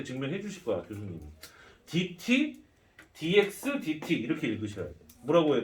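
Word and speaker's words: dx/dt: 주실 거야 교수님이 DT dxdt 이렇게 읽으셔야 돼요 뭐라고 해야 되나 dt분의 dx라고 읽으면 안 돼 dxdt라고 읽어야 돼요 dt분의 dx라고 읽으면 내가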